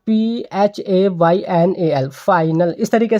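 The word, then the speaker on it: phenyl: कि फाइनल करने में, देखिए फाइनल जो हम प्रोनाउंस कर रहे हैं ना, वो PHAYNAL, फाइनल, इस तरीके से हम प्रोनाउंस कर रहे हैं।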